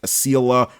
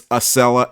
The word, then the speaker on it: Acela: could pronounce it because early on they would say things like Aila or Exel but it's acella acceleration and Excellence uh which is originally